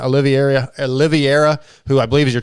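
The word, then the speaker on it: Oliveira: I have to, and of course, Dante Olivier, I don't even say his name right, Oliviera, who I believe is your teammate, was on the team.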